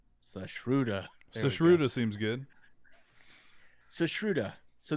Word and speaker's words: Sushruta: I'm not good at pronouncing names. It's Sushruta.